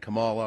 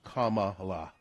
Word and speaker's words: Kamala: People saying Kamala or Kamala. It's Kamala.